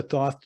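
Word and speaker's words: Thoth: deck this is uh this is the thought deck okay okay that's my pronunciation t-h-o-t-h my favorite one so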